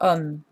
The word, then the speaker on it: homme: When you have a masculine, so it should be ce for homme and acteur that are masculine, but homme technically starts with a vowel because the H is silent.